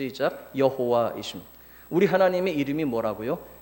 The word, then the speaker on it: 여호와: 하나님은 이름이 c 자 여호와 여호와 가 그분의 이름이 지나야 외에 여호와 발음을 야해 라고도 하죠 여호와는 우리 하나님의 이름이